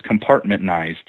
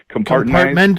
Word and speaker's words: compartmentalized: I'll tell you, Dave, when I meet an insider, the government is it's compartmentized, or how do you say that word? Compartmentalized, right? Compartmentalized. There you go.